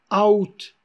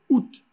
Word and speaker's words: août: Par exemple, août, le mois d'août, qui se dit août au lieu de dire out.